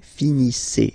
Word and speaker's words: finissez: Okay, a Z at the end gives you the sound E. Okay, finissez, finissez.